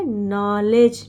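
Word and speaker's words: knowledge: लिए क्या नॉलेज इसको नॉलेज के साइलेंट रहता है एन ओ को नो एल ई को ले और डी जी को ज तो क्या हो गया नॉलेज नॉलेज मींस ज्ञान तो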